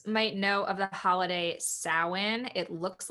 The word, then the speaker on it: Samhain: so some folks might know of the holiday samhain it looks like it's spelled samhain and a lot of people pronounce it champagne but it's really pronounced samhain and this is a pagan holiday where we